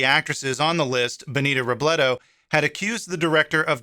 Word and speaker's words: Robledo: have been mispronouncing miss robledo's name during the story it's actually robledo and not robledo like i mentioned in